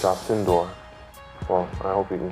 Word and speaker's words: Alcindor: first of all, what's the correct pronunciation of your name? It's Alcindor.